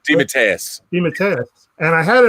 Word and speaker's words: DeMatteis: How do you pronounce the last name? DeMatteis.